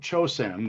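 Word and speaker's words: Chōsen: the bank's name was changed to bank of chosen the japanese pronunciation which issued its first notes the one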